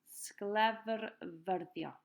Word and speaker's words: sglefrfyddio: Break it up into 2 words if you want, if it's easier to say. So the first part is sglefr, and the second part is fyddio. Sglefrfyddio.